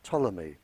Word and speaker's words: Ptolemy: Greek living in Egypt by the name of Ptolemy spelled with a P he very famous scientist and